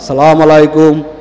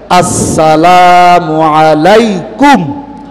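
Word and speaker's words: السلام عليكم: সালাম আলাইকুম, সালাম আলাইকুম। সালামটাও শিখলেন না? সবাই বলেন, হামজার উচ্চারণটা ক্লিয়ার, আসসালামু আলাইকুম।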